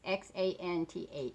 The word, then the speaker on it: Xanth: It's Xanth. Some people pronounce it different, some people don't.